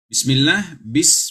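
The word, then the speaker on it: بِسْمِ اللَّهِ: Bismillah, bukan bisa, karena sin bukan qalqalah. Bukan bismillahirrahmanirrahim, tetapi ya, jangan dipantulkan.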